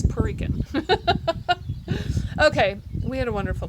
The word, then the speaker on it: Puerto Rican: Oh, I said it wrong, didn't I? Puerto Rican. I actually said the T. It's Puerto Rican.